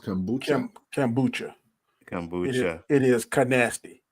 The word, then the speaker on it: kombucha: Kambuka. Kambuka. Is that it? It's pronounced kombucha.